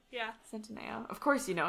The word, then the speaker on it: Centineo: little kid, to like you grew up into Noah Centineo. That's how you say his name, right? Centineo? Yeah. Centineo.